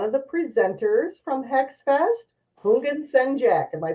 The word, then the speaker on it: Houngan: Today's guest is one of the presenters from HexFest, Hungjack. Am I pronouncing your name correctly? It's like the H is silent.